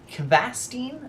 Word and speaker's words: Kvassten: So spawning here on the bottom right hand corner of Newkirk Precinct is Kvassten, I believe is how you say it, and he'll be spawning again as our blue Terran player.